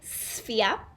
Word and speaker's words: sphere: vertices we can see when we say sphere we start with the s sound can you say good job then the next sound is it's actually spelt with a ph which can also make the f sound so try that good job and then the last part is ear like your ear so we say yeah